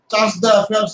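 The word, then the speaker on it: chargé d'affaires: সিডিএ, সিডিএ এর ফুল ফর্মটা হলো চার্জ দ্য অ্যাফেয়ার্স আমরা বলে থাকি, French spelling. চার্জ দ্য অ্যাফেয়ার্স আমরা সাধারণত বলে থাকি, যদিও উচ্চারণটা ফ্রেঞ্চে ভিন্ন রকমের, বাট ঠিক আছে আপনি চার্জ দ্য অ্যাফেয়ার্স বলেন।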